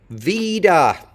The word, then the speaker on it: Vida: Vida. Vidas, the stress is here. Vida with a schwa in the second syllable.